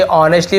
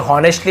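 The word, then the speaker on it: honestly: बट लेकिन आई ऑनेस्टली, इसे ऑनेस्टली पढ़ेंगे, एच को नहीं पढ़ेंगे, एच साइलेंट लेटर है यहाँ पे, ऑनेस्टली, ठीक है, इसे हॉनेस्टली ऐसे नहीं पढ़ेंगे, ऑनेस्टली यानी होता है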